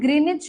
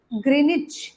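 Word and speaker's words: Greenwich: सो to quant old ग्रीनिच village. इस village का नाम क्या है? ग्रीनच each W is silent ग्रीनिच village.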